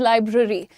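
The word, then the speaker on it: library: लाइब्रेरी। लाइब्रेरी नहीं होता है। इट इज़ लाइब्रेरी।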